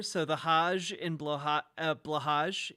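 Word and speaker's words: Blåhaj: the Haj in Blaha blahaj is pronounced more like hi uh like a softer version of yes in Japanese I know I I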